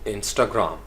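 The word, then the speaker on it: Instagram: अब चूँकि 3 सिलेबल हो गए हैं, अब इसको मैंने बड़ी दफ़ा गौर से सुनने की कोशिश की, ना तो इन के ऊपर स्ट्रेस आता है ना ग्राम के ऊपर आता है, तो ये इस तरीके से प्रोनाउंस किया जाता है, इंस्टाग्राम, इंस्टाग्राम, स्टा के ऊपर जो है वो स्ट्रेस आता है, यानी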